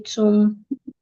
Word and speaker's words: tomb: So TOMB and THUMB are not pronounced the same way. A lot of people pronounce these two words the same. They say tomb, thumb and thumb.